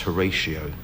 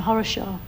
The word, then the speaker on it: Horatio: I think they probably intended it to be pronounced Horatio, but it just got mish mashed up and became Horishaw.